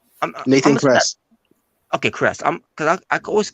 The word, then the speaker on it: Kress: He beat Nathan Chris. Nathan Kress. Okay, Chris. Because I always keep pronouncing his last name wrong.